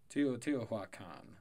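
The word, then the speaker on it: Teotihuacan: how to but here we go how to pronounce tia tiwa khan teotihua khan tiwa khan tiwa khan okay ti2 wakan is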